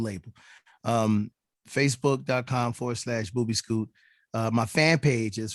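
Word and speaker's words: Boobeescoot: uh i'm on facebook booby scoot this was which is my little label uh b is it's spelled you know it sounds exactly the way it's spelled boo b scoot b-o-o-b-e-e-s-c-o-o-t boobie school that's my little label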